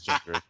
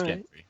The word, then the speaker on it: Gendry: It's uh it's gender. Oh Okay, carry on. No, it's Gendry. It is Gendry.